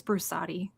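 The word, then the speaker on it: Brusatte: By Steve Broussard. He's the guy who wrote the big dinosaur pop sci book. I think it's Broussardi. Broussardi, thank you. That's how they pronounce it on the audiobooks.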